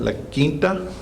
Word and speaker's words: La Quinta: Those of you in North Texas need to learn how to say it, La Quinta.